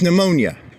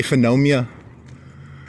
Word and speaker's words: pneumonia: I can't say pneumonia right. It starts with a PH. Pneumonia? It's pneumonia. There, I think I said it right. It's pneumonia. But I always want to say phenomia because it's one of those stupid words that, you know, it's not spelled correctly.